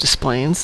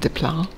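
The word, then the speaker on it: Des Plaines: And Desplaines is pronounced Desplaines instead of Desplan.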